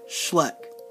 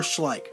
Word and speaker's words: Schleich: this collection video will be on all these different animal figurines from the company Schleck or Schleich however you want to pronounce it for those of